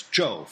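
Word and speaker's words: 紂: king Joe of Shang that's Joe fourth tone different character from the first town Joe of the dynasty this wicked King Joe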